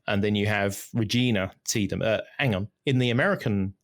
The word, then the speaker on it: Tiedemann: Yeah, a very good example of this is Regina Tiedemann, which I think is the German pronunciation. And then you have Regina Tiedemann.